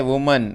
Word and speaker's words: women: मित्रों एक और जानकारी मैं देता हूँ, WOMAN इसको बोला जाता है वुमन, इसको क्या बोला जाता है, वुमन। और यदि यहाँ पे होता WOMEN तो उसको बोला जाएगा विमेन। क्या बोला जाएगा, विमेन। तो प्रोनाउंसिएशन में भी आप ध्यान में रखेंगे, वुमन यानी सिंगुलर और विमेन यानी प्लूरल।